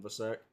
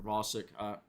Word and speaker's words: Vasek: But a guy like Colton Vasek, or Vosick, Colton Vosick, I believe that's a correct pronunciation.